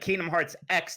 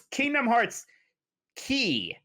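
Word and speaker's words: Kingdom Hearts χ: This is Kingdom Hearts Key. That symbol apparently means key or chi or something like that, but they always pronounce it as key.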